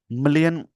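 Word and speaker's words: Malé: भारत का जो 100 million in SBI subscription of Maldivian T bills enable करता है मेल to make it's date sorry क्षमा चाह इसको माले बोलेंगे माले मैंने इसको मेल पढ दिया इसको आइए दोस्तों थोड़ी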